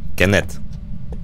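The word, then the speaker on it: Kenneth: Смотри, ну типа в конце TH, ну, я думаю, ты знаешь, как это читается. Кеннет Джексон. Кеннет. Не Ц. Окончание в именах не читается. Кеннет. Там Кеннет. Вообще, TH, ну ладно, как скажешь. Ну в окончании оно не читается как Ц.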